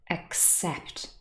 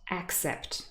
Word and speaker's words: except: that we had before so here the stress is very often on the second syllable except not accept no that would be